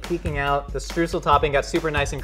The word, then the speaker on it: streusel: So the streusel, or streusel as it's pronounced in German.